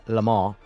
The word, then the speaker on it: Le Mans: Do you pronounce the N in Le Mans? Because obviously the right way to say it's Le Mans. But I don't know why when I say Le Mans, I feel like a fraud.